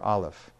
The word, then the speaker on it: aleph: the first letter being the letter aleph which is a silent letter in fact aleph is